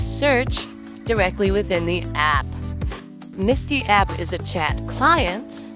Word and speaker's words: Msty: And Msty is spelled M-S-T-Y, but pronounced Msty by the developers.